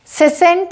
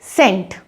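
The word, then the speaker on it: scent: इसीलिए जब भी सी से पहले एस आता है, उस केस में आप सी को ना प्रोनाउंस करें और एस को स प्रोनाउंस करेंगे।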